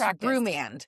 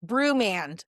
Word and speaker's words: Broumand: Pronounced Broumand. Broumand. Say it again. Kind of like brew, Brewmand, but it's actually a Persian or Iranian name, which is timely at this time.